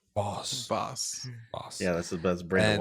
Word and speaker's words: Voss: pronounced Voss. Voss.